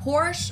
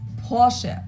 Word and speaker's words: Porsche: located in stutgart Germany I've heard Americans pronounce it Porsche or Porsche in German we say Porche so there's like the short a sound in the end posche it was founded by